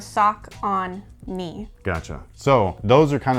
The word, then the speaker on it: Saucony: how to say this saucony i don't know if it's soccer nearest taconi it's talking like you're supposed to think of sock on me gotcha so those are